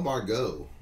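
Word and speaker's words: Margot: man yell Miguel Manuel bar go is that how you just put on that we go the T is silent for the Philadelphia Phillies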